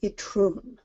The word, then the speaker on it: Itroun: Now with Aotrou and Itroun, I'm not terribly up on Breton pronunciation, but I believe that it has the accent on the second syllable. So it's Aotrou and Itroun.